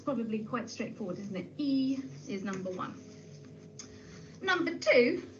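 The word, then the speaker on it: 一: get started number one in mandarin chinese is pronounced e e i wonder if you could say that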